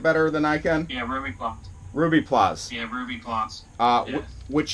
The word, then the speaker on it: Rubiplas: Yeah, Rubiplas.